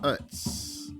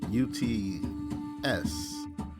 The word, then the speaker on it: Uts: And when we read about it in the Sefer, it's called Uts. U-T-S. Uts. Alright. So it's spelled differently.